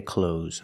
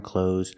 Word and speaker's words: clothes: without their clothes on did you hear the th sound I didn't either and I don't make the th sound when I speak I say clothes I'm wearing clothes I want to buy